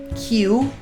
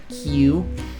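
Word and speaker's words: Kyu: this this love fairy called Q spelled KY U I'm assuming it's pronounced Q if you can't tell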